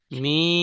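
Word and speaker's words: ميم: 15 number মাখরাজ, দুই ঠোঁটের শুকনো অংশ মিলিত হয়ে উচ্চারিত হয় মিম।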